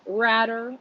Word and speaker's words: Ratter: Henry Ratter, rhymes with ladder.